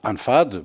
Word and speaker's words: L'Anfad: C'est comme ça qu'on les écrit dans nos manuscrits. L'Anfad. L'Anfad. L'Anfad, en fait, on prononce ça l'Anfad.